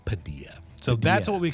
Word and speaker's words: Padilla: Um so Padilla Bay, Pa P A D I L L A one of the most common mispronounced words in Washington state. Um so the locals are always like it's pronounced Padilla.